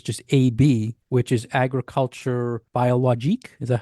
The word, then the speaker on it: biologique: But in France, you might see a label that says just AB, which is agriculture biologique.